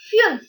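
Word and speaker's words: fünf: be i e r five is said as fuel f u umlaut and f so you can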